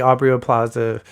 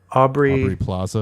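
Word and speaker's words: Aubrey Plaza: o'clock and then immediately auo Plaza uh is aubre is wait is that wait how do you say your name Aubrey auy Plaza Plaza why did I say o Plaza I think I'm aubre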